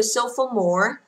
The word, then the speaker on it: sophomore: Tiếp tục chúng ta có từ sophomore. Sophomore, được chưa? Sophomore, sophomore sinh viên năm thứ 2 và trọng âm rơi thứ nhất.